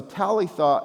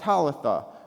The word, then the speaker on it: Talitha: So Talitha in Aramaic means little girl and then it rhymes with Tabatha which is an Aramaic word actually for a do or a gazelle.